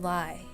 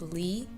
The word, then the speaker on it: Lie: And if any of you are thinking right now that his name should be pronounced Lee, ha! Right, you'd be best not to mention that to Mr. Lie, just saying.